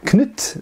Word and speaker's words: Knut: And then of course we know that people like Canute, who conquered England, Knut I believe it's pronounced in Danish rather than Canute as we say in England and America, and he of course